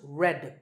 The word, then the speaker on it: read: Its past tense and past participle forms are spelled R-E-A-D, but pronounced red, like the color red.